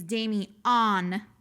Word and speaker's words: Damian: She's like, it's Damien.